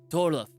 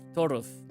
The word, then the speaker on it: Torulf: You keep putting the L before the U. It's like Ulf. Ulf. Ulf. Torulf. Ulf. Yeah. Torulf. Yeah, that's closer.